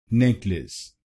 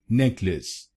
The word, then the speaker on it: necklace: and in this word, you do not have stress on the first syllable i.e. N E C K, so you should not pronounce this word as necklace, you should say it as necklace necklace now you know